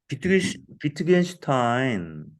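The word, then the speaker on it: Wittgenstein: 위겐스타인이라고 미국식으로 발음할까? 아니면 아니, 아니, 아니. 여기 미국에서도 다 독일식으로 발음해요. 비트겐슈타인. 위트겐슈타인. 근데 모르는 예. 사람을 딱 보여주면 위트겐슈타인? 위겐스타인 아, 발음하더라고, 미국 사람들이. 아니요. 칼 융도 독일식으로 발음하고, 그 예.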